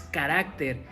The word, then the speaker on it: carácter: y es una incorrección después carácter y carácter la forma correcta es carácter eso nos ayuda cuando